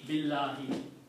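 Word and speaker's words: بالله: But by changing Allahu to Allahi, we are making it consistent with the B. B Allahi Billahi. See how it is easy to pronounce?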